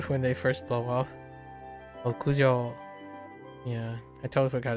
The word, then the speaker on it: 屋上: Yajo. No yajo. 屋上 Okujo, yeah.